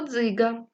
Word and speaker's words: Дзига: та один склад слово Дзига перший звук ДЗ приголосний твердий и голосний Ґ приголосний твердий а голосний поділіть слово Дзига на склади Так в цьому слові два склади поставте наголос наголошений перший склад молодці дітки прочитаємо слово